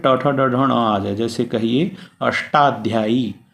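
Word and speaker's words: अष्टाध्यायी: आशा के साथ में Tata ढाल जैसे कहिए अष्टाध्याई अष्टाध्याई अष्ट कहने से टॉकी साथ में ही शुद्ध उच्चारण हो रहा है अ फुटर तो इनका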